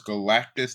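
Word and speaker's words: Galactus: these excellent world destroying abilities whether it was Galactis that's how you pronounce the name that depressed dude and thunderbolt and Kang and everybody else.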